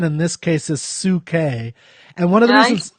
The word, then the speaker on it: Psyche: Okay, so today we're going to talk about Ode to Psyche. Now that's how I pronounce it. You pronounce it how? I pronounce it Psyche, as in from psychology.